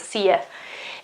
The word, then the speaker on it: see ya: See ya. See ya, because it's the American version in which you isn't always pronounced you, but it's pronounced ya.